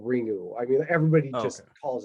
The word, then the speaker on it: Ringu: u is i mean the way you technically pronounce it would be like you know like the you almost doesn't exist but nobody's gonna do that so nobody can be faulted for saying ringu i mean everybody just